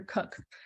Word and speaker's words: Koch: Peter Koch. Now, the Koch's name is spelled K-O-C-H.